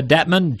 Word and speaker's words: Dettmann: It's Detra Detman. Yeah. Not Detra Dietman.